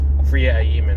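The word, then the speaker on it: Freema Agyeman: and it was um friia aiman I think is how you pronounce her name uh who played Martha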